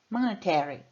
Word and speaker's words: monetary: A sílaba tônica é T. Monetary. Monetary. Monetary.